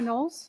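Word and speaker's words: Knowles: My name is Nolles. My last name is spelled K N O WLE S.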